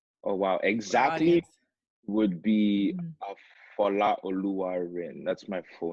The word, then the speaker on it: Folarin Odunayo: I call you, but for the culture, would you like to just show exactly how your name's pronounced? Oh wow, exactly would be Folarin Odunayo.